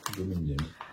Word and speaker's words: Bloomingdale's: Et comment ça se prononce? Bloomingdale's.